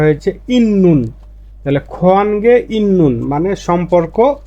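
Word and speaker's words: 있는: ত না হয়ে উচ্চারণ হবে নিয়ন এজন্য এর উচ্চারণটা হয়েছে ইন্নুন তাহলে খনগে ইন্নুন মানে সম্পর্ক আছে খত মানে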